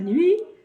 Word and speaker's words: nuit: jour et la nuit la nuit et la nuit se termine par un thé comme chocolat et ce ce thé on ne le prononce pas le jour et la nuit a